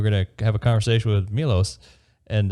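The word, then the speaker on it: Miloš: It's pronounced Milos.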